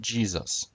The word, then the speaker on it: Jesus: When we pronounce Jesus in English, we pronounce it Jesus, or Jesus, Jesus. Only if you slur the word does it sound like Zeus.